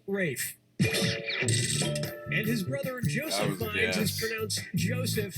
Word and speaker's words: Ralph: finds first name is felt like Ralph but pronounced rape and his brother Joseph Joseph but it's cssf a.m.